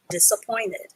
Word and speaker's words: disappointed: sound ed dis uh you only need to pronounce the p sound once even though it's written tight twice dis uh point id dis uh point id disappointed okay and you can